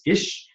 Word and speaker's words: Kis: So technically my last name is pronounced as Kis. And I assure you that in Hungarian, that's a perfectly cromulent last name.